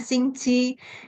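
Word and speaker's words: 星期: Tadi di awal saya mengatakan ada kata Xingqi. Ya, bacanya Xingqi.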